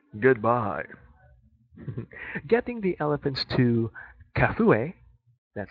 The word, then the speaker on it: Kafue: Getting the elephants to Kafue, that's how you pronounce it, it's a place in Gambia, can be a challenge.